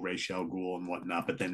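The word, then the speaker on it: Ra's al Ghul: and then you know in this film a rise Al ghoul it's like what the hell is it you know it's like whatever um quite a few of the Animated Series have it wrong yeah exactly yeah but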